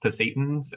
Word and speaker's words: Pasayten: I believe the way to pronounce it is Pasaytans in the Pasayten Wilderness area for about a week later on this summer.